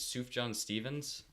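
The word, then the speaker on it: Sufjan Stevens: the music by tzuf I think is soup John Stevens is how you pronounce his name he composed some originals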